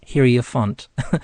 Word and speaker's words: Hierophant: but the kind of the phonetic sounding of that is hairy and then font, because there was a message there that she said, did you just mention hairy font? And I did, but it's pronounced Hierophant.